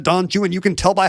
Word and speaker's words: Don Juan: the hyper-correct way, like every time Alex Trebek ever said Don Juan, because that's the correct way to say the Byron poem.